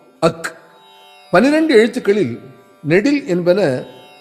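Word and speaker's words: ஃ: இதை அக்கன்னா என்பது தவறு. அக் என்று உச்சரிக்க வேண்டும்.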